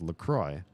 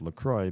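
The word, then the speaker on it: LaCroix: ever had this salzer it looks like it's got a French name it even has a silent letter in it and the drink is pronounced lroy the drink is pronounced lroy because the river is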